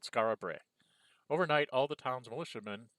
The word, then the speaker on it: Skara Brae: And I assume it's Skara Brae because that rhymes with the line before.